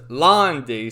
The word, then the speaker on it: Lan: So I guess, you would think it's Lan Di, but the way it's pronounced is Londi.